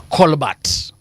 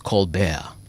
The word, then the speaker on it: Colbert: Oh, now there's another one called, mimi nilikuwa nikisema Colbert. I was told it's Colbert. Colbert amekuwa Colbert.